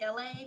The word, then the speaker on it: LA: So it's me, LA, pronounced like LA, like the city.